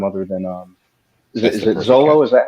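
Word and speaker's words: Xolo: point in time other than um is it Zolo? Is that how you say his name? Yeah, Zolo.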